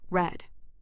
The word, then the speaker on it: read: Lembre-se , não dizemos " readed " ou " reads " , mas sim " read " , pronunciado como " red " .